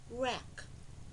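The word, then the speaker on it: wreck: When W is paired with consonant R, the W is silent in words such as rack, R, A, K, rack.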